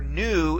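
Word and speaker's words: nu: V but it's not it's the letter new and it has an n Sound to it it's very easy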